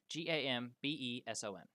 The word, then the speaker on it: gambeson: Gambeson. B-E. Okay. Chess piece. It's like Bambi's son, but it's Yeah.